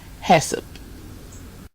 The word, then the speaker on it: HACCP: does not happen and that's pronounced HESA okay now into the